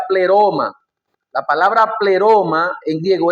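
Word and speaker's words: πλήρωμα: La palabra para cumplimiento en griego se llama o se pronuncia pleroma.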